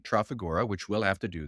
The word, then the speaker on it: Trafigura: All Texans emphasize the first syllable of any word, hence insurance, hurricane, or my personal favorite, omnipotent, hence Trafigura.